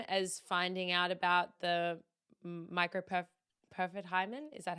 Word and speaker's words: microperforate hymen: the same time as finding out about the microperforate hymen? Is that how you say it? That is how you say it. Yeah. Microperforate hymen.